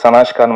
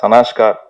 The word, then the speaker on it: சனாஷ்கா: அண்ட் இந்த newbie இந்த செட், நம்ம பேர் சனாஷ்கான்னு மாற்றிருக்கீங்களா? சனாஷ்கார், am I pronouncing it right? சனாஷ்கா, okay.